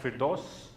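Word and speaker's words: Firdos: OS f ir d OS d and you pronounce that fit dose of it perfect actually we'll try this think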